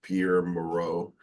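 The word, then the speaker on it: Pierre Mourad: speaking for those who do not know per Pierre Moro and uh that is the correct pronunciation of his name uh although he is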